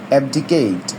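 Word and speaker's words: abdicate: এফডিকে এবডি কেড এবডিকেট আমরা এটার উচ্চারণটা এভাবে করব এফডিকেট স্টেপ ডাউন ফ্রম এ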